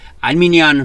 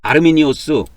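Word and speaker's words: Arminius: 다른게 아니고 그래서 아르미니오스 해도 알아야 되고 알미니안 하면은 이거는 영어식 발음이에요. 아르미니오스.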